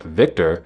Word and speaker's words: Victor: decided that his Chekhov would pronounce a V like a W. Both Yelchin and Koenig knew that this was more Polish than Russian, but Yelchin didn't change it. His comedic pronunciation of Victor instead of Victor was